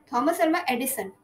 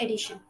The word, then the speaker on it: Edison: was making the balam Edison not Edition Edison I always be confused